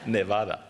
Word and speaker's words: Nevada: Nevada is the actual pronunciation.